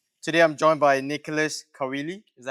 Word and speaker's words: Caoile: Today I'm joined by Nicholas Caoile. Is that how I pronounce it?